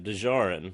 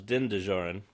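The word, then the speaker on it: Din Djarin: decommissioned Mandalorian hunter and he mispronounces the name actually just as the last name do Joran we know the full name now is Dinda Joran this is de Joren hey says he probably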